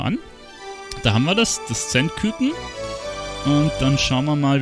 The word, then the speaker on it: Zenetküken: Da haben wir das Zend-Küken. Und dann schauen wir mal, wie das ausguckt. Zend-Küken, habe ich mich vertippt? Zend-Küken heißt es. Okay, ich habe es jetzt die ganze Zeit falsch gesagt.